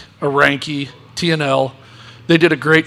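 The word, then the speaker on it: Reinke: Ranke. That's what I'm saying. Is that how you say it, Ranke?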